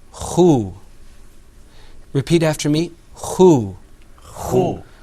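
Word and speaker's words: خُ: And then that third letter that you see there is pronounced khu.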